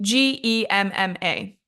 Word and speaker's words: Gemma: They say that they see the G and they don't understand that it's that J sound as in judge. They think it's G as in grape, G coming from your throat.